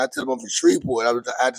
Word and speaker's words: Shreveport: even DJ Envy he just now starting to pronounce in shreport the correct way after a month it took